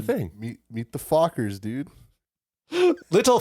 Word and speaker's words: Fockers: fuckers. Is that it? Dylan, What? say it. What? The proper Say the pronunciation. thing. Meet the Fockers, dude. Little fuckers.